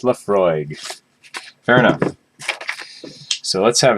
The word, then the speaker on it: Laphroaig: my paper there we go closer there yeah pronounced Lefroy fair enough so let's have a taste of